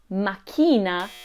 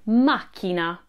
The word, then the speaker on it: macchina: Buon Giorno it's not makina put the stress on Ma makina at Meal Time eat